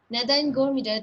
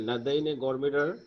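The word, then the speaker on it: Nadine Gordimer: গো- এটা হচ্ছে স্যার, স্যার এটার কি প্রোনাউন্সিয়েশনটা কি হবে? নেদেইন ন্যাজ, গৌমিডে, নেদেইন গৌমিডে। আচ্ছা, গোরমিডার, হ্যাঁ, নাদাইন গোরমিডার, the south African writer and Nobel, south Nobel African, laureate, Nobel laureate.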